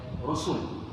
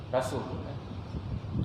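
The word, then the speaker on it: رسل: Ra sin lam. Kena baca rusul. Ra pada depan, sin pun kena baca pada depan. Kalau kita Rumi dia letak perkataan apa? Rasul.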